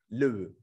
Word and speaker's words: Loew: In German, it would be, I cannot pronounce it, Loew, something like that. Loew, yeah, thank you.